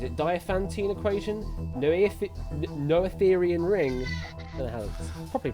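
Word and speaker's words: Noetherian: And your three answers are Dopantene equation, Netheran ring, and Gaussian elimination. Mob, start locking your answers in. Which of these mathematical concepts is named after a woman? Is it Dantine equation? No, no Athetherian ring properly pronounced.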